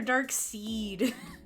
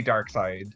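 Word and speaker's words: Darkseid: dark side yeah so does it pronounce dark side or dark seed it's meant to be dark side okay yeah i hate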